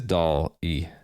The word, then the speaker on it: Dolly: put in russimp 2.0 pronunciation of Dolly sounds much like dolly dolly doll e it is doll e how would I pronounce